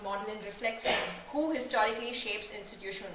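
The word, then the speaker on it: Magdalen: Even something as simple as knowing that MA gene is pronounced modelin reflects who historically shapes institutional norms.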